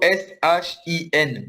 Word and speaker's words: Shin: On écrit plutôt S-H-I-N. Mais oui, c'est la même prononciation.